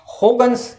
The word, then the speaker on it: Huygens: तो Dutch language के अंदर इसका प्रोनाउंसिएशन कुछ ऐसा होगन्स ऐसा कुछ होता है। तो कोई लोग इसको हाइगन्स बोलते हैं, कोई ह्यूजेंस बोलते हैं, कोई होगन्स ऐसा कुछ बोलते हैं।